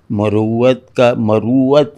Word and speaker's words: مروت: مروت ہے اس کا تلفظ.